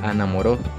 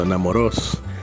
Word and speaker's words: Anamorós: confundo esos nombres con Morazán, pero esta está ubicada en Anamoró. Correcto, Anamorós. La M lo confundió.